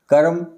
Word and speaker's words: कर्म: शब्द में कहे तो जिस वर्ण के ऊपर रेफ रा लगा होता है इसका उच्चारण उससे पहले होता है कर्म धर्म मर्म अब दूसरा